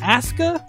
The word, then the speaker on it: Asuka: Wii U or PCS ASA is that how we're saying it WWE is doing one thing right because Japanese pronunciation you never pronounce the you okay is Asa that's Asuka yeah I can't wait until